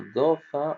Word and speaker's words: dauphin: Regardez do c'est do. Vous voyez ? Je vais cacher maintenant do et je vais vous montrer fin. Vous voyez ph ça fait ça fait fe et in ça fait 1 ça fait fin.